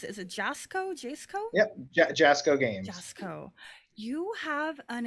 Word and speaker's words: Jasco: that you work for uh how do you pronounce it is it jasco jsco yep jasco games co you have an incredible library of